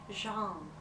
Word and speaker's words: genre: trouble with that word because it comes from French and in French we say Jean but in English when a word comes from French in English they tend to butcher the pronunciation and I want to